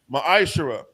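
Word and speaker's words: מעשר: 3: 8-10 means Temp and the Hebrew it's pronounced Maisha 10% of every penny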